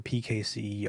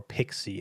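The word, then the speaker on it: PKCE: we also introduced um pkc or pixie as as it's apparently pronounced and this is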